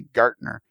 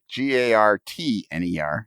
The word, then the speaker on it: Gartner: And we talked about how nobody pronounces the T in his name because it's actually Gartner, Gartner, not Garner.